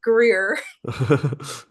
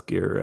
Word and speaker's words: Gere: He was like, "You could own where this magic take took place between Richard Greer and Diane Lane." Yeah. He didn't pronounce Gear, right?